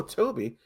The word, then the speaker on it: Tobe: Oh, I called him Tobe Hooper for years. It wasn't until like the birth of like the internet really somebody could correct me. Oh, Toby.